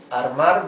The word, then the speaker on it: armar: Armar means to assemble. Here we have a smoother R. Ar-mar. Two R's. These two R's are the same. Ar-mar. Altogether, armar. Carencia means lack of something.